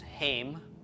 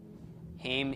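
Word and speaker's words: הם: referring to a group of men we use hame hame is they masculine a group of women is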